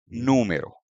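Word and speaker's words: número: आता है नो मेरो यानी कि एक्सेंट स्ट्रेस फर्स्ट लेवल पर है तो यह स्ट्रेस दिखा खाने के लिए हमें यहां पर एक एक्शन मार्क देना पड़ता है। तो इसका प्रोनाउंसिएशन है नो मेरो।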